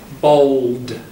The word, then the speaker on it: bold: Bold. Make sure you get the D.